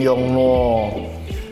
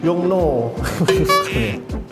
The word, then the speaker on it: Yongnuo: Yongnuo. Yongnuo. Jadi kak mulutnya ini harus ini mencucu gini. Yongnuo.